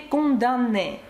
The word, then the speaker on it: condamné: qui n'a jamais été condamné. Обратите внимание на глагол condamné, M в нем не произносится, но пишется.